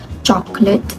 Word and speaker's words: chocolate: Next, for the second participant, she pronounced chocolate as chocolate, which reflects the typical native-like reduction of the middle syllable. This shows a case of elision where the unstressed vowel in the second syllable is omitted, reducing the word from 3 to 2 syllables.